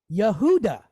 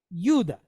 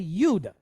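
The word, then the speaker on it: יהודה: It's just like the word, now we, in the West, we pronounce it, and we think we're doing awesome. We pronounce it Yehuda. But that's not how you pronounce it. If you go to Israel and say it that way, they're going to look at you like you're crazy. They pronounce it Yuda. Okay, Yuda.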